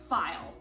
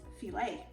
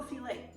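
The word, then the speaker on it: filé: And I even had to look up what it was called actually, because it's not file. It's actually pronounced fillet. So gumbo fillet.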